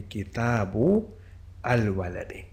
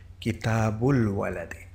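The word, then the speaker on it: كِتَابُ الوَلَدِ: The hamza would be written, but it will not be pronounced. So then it will be kitabul waladi.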